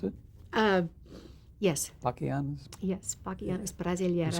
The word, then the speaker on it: Bachianas Brasileiras: And you sang Bachianas Brasileiras, is that how you pronounce it? Yes. Bachianas? Yes, Bachianas Brasileiras.